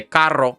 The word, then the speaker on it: carro: So when you want to say carro or perro or something like that, something that's got that double R usage, that's really all you need to do is just push your tongue to the roof of your mouth, blow air, and then that's going to make that fluttering sound as you're speaking.